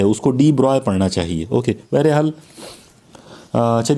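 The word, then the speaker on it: de Broglie: कि जो गाइड है डिब्रॉय एक बहुत ही ग्रेट साइंटिस्ट उतरे हैं इसको स्पेलिंग हिसाब से अगर बात करें तो डी ब्रोग्ली जैसा लगता है ओके इसके बहुत सारे लोग उसको डी ब्रोग्ली ही कहते हैं बल्कि कई मर्तबा और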